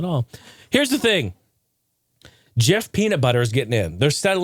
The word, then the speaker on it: GIF: in collaboration with the Jiffy people to show that it's settled and it's Jif. They're saying, hey, look, you pronounce ours Jif, you pronounce this Jif.